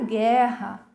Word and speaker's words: guerra: E observem que na palavra guardanapo, a vogal U tem som, ela é pronunciada, diferente da vogal U na palavra guerra. Aqui ela não possui som, ok?